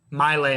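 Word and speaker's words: My Lai: going to talk about the melee massage or melee may my lay massacre is how you say it my light massacre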